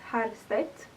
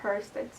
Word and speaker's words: Herrstedt: In Sweden, you would pronounce it as Herrstedt, but I guess if you are international, just pronounce it as you think, like Herrstedt. It's very common, so Herrstedt.